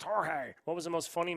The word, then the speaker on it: Jorge: it's pronounced Jorge.